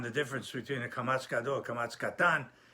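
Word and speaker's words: Kamatz Katan: to it's pretty simple the Kamas pronounce a a long long ah like that and kamasan is pronounced o like a because many of them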